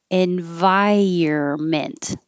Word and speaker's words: environment: not a spring flower environment or environment so we don't say the n uh we skip that and you can say